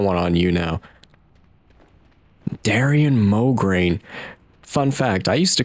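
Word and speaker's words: Mograine: pronounced like moin, but the way I read it sometimes it looks like migraine.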